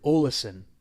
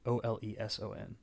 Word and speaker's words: Oleson: season three is Erik Oleson I think is how you say it Oh el eson also like Olsen but with an extra syllable yeah okay he surprisingly